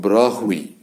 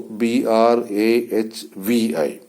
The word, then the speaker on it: Brahui: But this language called Brahvi, it is spelled Brahui, also Brahvi. So Brahvi or Brahvi is spoken in the border areas of Afghanistan and Pakistan by about 3.5 million.